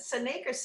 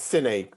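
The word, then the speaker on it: Syn-Ake: of the skin and then uh do you pronounce it seneca neck uh it's synaic because it's it's it's a derivative an artificial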